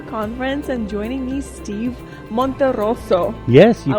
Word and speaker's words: Monterroso: My name is and today we're here at the Winter Conference and joining me Steve Monterosso. Yes, you pronounced it well.